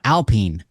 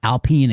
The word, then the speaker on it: Alpine: new product from from Alpine that's right Alpine Alpine Alpine Alpine it's it's spelled Alpine but it's French so it's Alpine I only know them